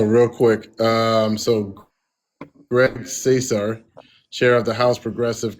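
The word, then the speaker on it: Casar: Greg Caesar. Cesar. Greg Cesar. Cesar. Sorry. He pronounc it. Yeah, he pronounces it Cesar.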